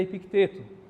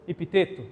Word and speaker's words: Epicteto: Essa frase é atribuída a Ipicteto ou epiteto ou epíteto. Cada um pronuncia de um jeito.